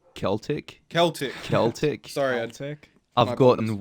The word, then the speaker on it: Celtic: Hey, it's pronounced Celtic.